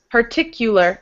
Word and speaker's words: particular: Particular. It sounds like the word you in the middle.